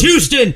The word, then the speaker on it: Houston: It's Houston. You fucks. It's You Houston. fucking you don't even pronounce jabronis. the, You don't even pronounce the H. It's just a U.